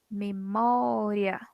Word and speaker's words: memória: Memória. É a penúltima sílaba? Penúltima, né? Então, aqui ela é uma paroxítona.